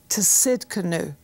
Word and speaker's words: Tsidkenu: want you to see Jehovah to sitka new you say wow it sounds like a gourmet food what is it well it's spelt TSI d ke mu and it basically is